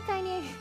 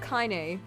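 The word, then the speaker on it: Kainé: Hey, Kanye. I call her Kanye, but apparently it's pronounced Kyn.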